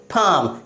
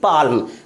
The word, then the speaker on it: palm: अगला example PALM, क्या पढ़ेंगे? पाम, ना कि पाल्म।